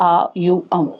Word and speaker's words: ओम: तीसरा जो हम चक्रा एलाइनमेंट एक्सरसाइज कहते हैं ओम का उच्चारण है। ठीक है? आ यू अम इसका आप उच्चारण कर सकते हो।